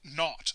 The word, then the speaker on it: naught: To designate that we have a standard state enthalpy, we put 0 as a superscript to the H, and we pronounce it naught.